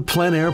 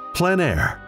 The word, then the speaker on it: plein air: of outdoor painting, called plein air. The French coined the term, which means open air or outdoors. The French pronounce it plein air. Others say plein air.